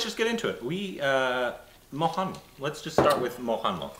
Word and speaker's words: Mohanlal: Mohanlal, but it's pronounced so quickly by most Mohanlal. People. It sounds like Mohanlal. So we say Mohanlal, but it's, I think I hear it's Mohanlal. Mohanlal.